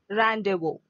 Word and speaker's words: rendezvous: Rendezvous. The pronunciation is rendezvous. Here in this Z, no, Z, that is silent. And the last letter S, that is also silent. The letter Z and S are silent.